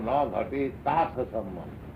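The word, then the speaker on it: na ghaṭetārtha-sambandhaḥ: Therefore, na ghate tatha sambandha. It's pronounced. Na ghate tatha sambandha. Like that. Ta should be long. Ta.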